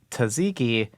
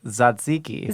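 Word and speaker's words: tzatziki: that is mad that people pronounce it taziki he said it's more like zaziki zaziki zaziki z ziki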